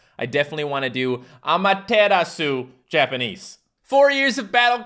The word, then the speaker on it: Amaterasu: bit better amaterasu japanese so apparently amateratsu is pronounced amaterasu japanese or maybe just amaterasu i like a mataratsu